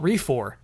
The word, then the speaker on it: refor: game that I call refor uh pronounced like recor just with an F here's the scenario I